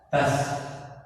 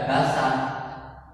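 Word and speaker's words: بَسْ: Ba-nya berharokat fathah, sedangkan sin-nya berharokat sukun atau berharokatkan mati. Cara membacanya bas. Jadi bas, tidak basah. Karena sin-nya mati berarti bas seperti itu.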